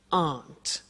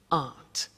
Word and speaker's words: aren't: they aren't cheap so the difficult here is the pronunciation of a not which is Aunt okay Aunt good so that's the negative